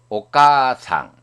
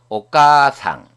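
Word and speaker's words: お母さん: 까 뒤에 아단 문자 다음에 아가 왔기 때문에 이 아는 장음부호와 마찬가지입니다. 그래서 아를 발음하지 않고 앞에 있는 까를 길게 발음하면 됩니다. 오가상.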